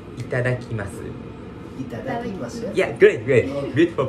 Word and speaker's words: いただきます: Similar concept, but we say itadakimasu. Itadakimasu? Yeah, great, great. Beautiful pronunciation.